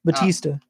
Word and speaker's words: Bautista: the actor who plays Drax, Dave Bautista, am I saying it right? Batista. Yes.